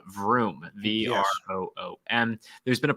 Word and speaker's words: Vroom: it's almost as if vroom rhymes with doom that was pretty good